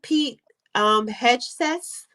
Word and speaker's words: Pete Hegseth: However, how you pronounce his name? Pete Hegseth.